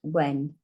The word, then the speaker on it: when: Big and when. Okay, you've got the quiet H here. Does not say hen.